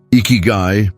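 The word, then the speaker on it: ikigai: Iguai, pronounced eeky, represents your reason for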